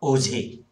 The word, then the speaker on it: Auger: In this, A and R is silent. Therefore, Auger or OJ.